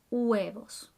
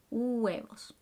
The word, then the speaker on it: huevos: pasta finally numero dose the h is silent huevos but you have to pronounce all the vowels in between huevos muy bien now we're